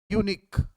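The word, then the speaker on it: unique: जैसे यूनिक, आप जब उच्चारण करेंगे हिंदी में यूनिक, यानी इसका उच्चारण यौ से हो रहा है, यानी कि कॉन्सोनेंट की तरह उच्चारण हो रहा है, व्यंजन, हिंदी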